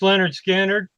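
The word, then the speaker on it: Lynyrd Skynyrd: Pronounced Leonard Skinner.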